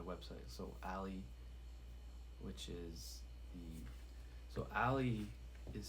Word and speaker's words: Aley: So Ali, which is Ali is spelled ALEY, but for the third page, the third meaning is Ali, which is spelled AELY, which is my conscious mind, right?